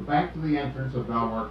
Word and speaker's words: Belvoir: We're back to the entrance of Belvoir Castle, incidentally pronounced Beaver by the local people.